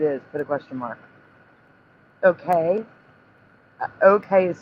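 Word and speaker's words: Okeh: Okay. Okay is spelled O-K-E-H.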